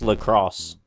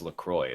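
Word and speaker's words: LaCroix: water or bottled lroy oh my God it's pronounced lacrosse it's actually pronounced lacroy as much as I hate to admit it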